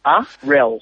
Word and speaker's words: Arel: Stop saying it Errol. wrong. I've Errol. preferred it to be pronounced Dan Arell. Yeah, like Errol Flynn. That's how I remember it.